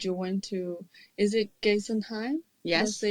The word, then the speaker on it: Geisenheim: Is it Geisenheim? Yes. Did I say it right? Yes. Geisenheim.